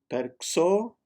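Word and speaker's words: perxò: In Catalan, the apostrophe X can either be pronounced as SH, sh, or CH, ch. In this case, it's sh, perxo. And flip the tongue after you pronounce the R, perxo. It's almost as you're adding a letter A to it. Very quickly, perxo.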